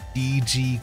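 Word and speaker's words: D∴G: wiki entry for it it is actually stylized as d triple dot g cult but it's pronounced d g meaning D there 4G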